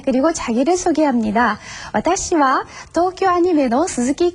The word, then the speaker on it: アニメ: 네, 우리는 애니메이션 이렇게 길게 말하는데 일본에서는 아니메 이렇게 짧게 말을 합니다.